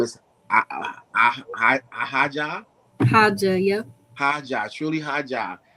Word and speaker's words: Haja: So I want to pronounce something else. I know it's like that, but it's Haja, right? Yeah, Haja.